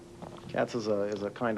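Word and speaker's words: qats: does play the cats I believe is pronounced q a TS cats is a is a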